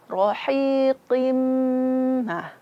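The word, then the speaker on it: رَحِيقٍ: Ko huruf tebal, jangan sampai qi. Enggak. Karena huruf ko itu makhrajnya dari pangkal lidah, awal lidah kita. Mirrohiqi qim. Bukan qi, tapi qim.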